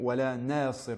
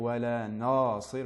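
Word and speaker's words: وَلَا نَاصِر: Il faut bien faire attention à ne pas la prononcer de manière emphatique, ne pas dire wala nasir, mais bien wala nasir, nasir.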